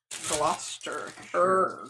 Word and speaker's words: Gloucester: more of a double Gloucester? Gloucester? Spell it. Glouce. Gloucester. Gloucester. Gloucester. It's like Worcestershire.